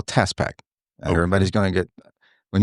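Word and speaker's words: TaaS Pak: is what we call TaaS Pack. Everybody's going to get When you Can you spell that? It's TAASPAK. Okay. It's not like the Tasmanian devil.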